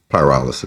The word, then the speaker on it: pyrolysis: It sounds like paralysis. but it's not. Pyrolysis is Thank what you. it is. One more time. Pyrolysis.